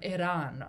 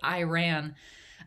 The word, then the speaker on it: Iran: I always bristle a little bit when people pronounce it Iran, just because in its ancient linguistic terminology, it was probably closer to Iran.